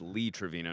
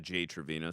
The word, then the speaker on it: Lee Trevino: It's Lee Trevino, not Jay Trevino. So, I got his I got his name wrong.